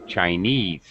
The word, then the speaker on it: Chinese: okay Chinese all right now normally the stress would be on this end Chinese all right uh and